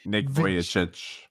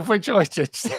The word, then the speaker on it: Vujicic: I never know how to pronounce Nick's second name. Nick Vujicic. There you go, Vujicic.